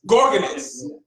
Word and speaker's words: Organus: Organus.